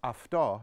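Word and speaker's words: αυτό: the word Auto or the prefix Auto pronounced afto in Greek has multiple meanings it's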